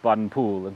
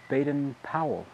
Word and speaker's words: Baden-Powell: Ward Robert Stevenson Smythe Boden Pula Gil well although I believe in America you pronounce it baden-powell however you say it is quite a mouthful